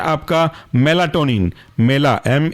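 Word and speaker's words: Melatonin: और फोस एफ ओ एस दूसरा है आपका मेलाटोनिन मेला एम ई एल ए और टोनिन टी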